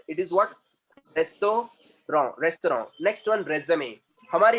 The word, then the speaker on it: restaurant: Next restaurant, we don't say restaurant, it is what? रेस्टोरेंट, रेस्टोरेंट।